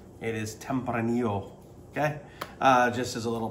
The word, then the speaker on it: Tempranillo: red grape of spain and that is called tempranillo not tempranillo it is tempranillo okay just as a little pronunciation issue um so let's get started right